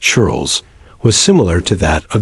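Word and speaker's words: ceorl: Life for the common people or cher pronounced churles was similar to that of the British peasants.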